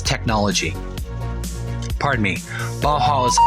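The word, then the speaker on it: Bauhaus: Baja's technology pardon me Baja's ideology little bit of mispronunciation this was the father of industrial design simple forms coming from the bajas that's b a h a u s then becoming more contemporary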